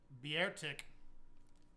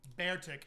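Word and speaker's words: Beartic: And Bertic. Bearic. Not Bertic. I don't say it like that.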